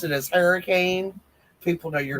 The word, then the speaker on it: Hurricane: Hurricane, but it's her like in hurry.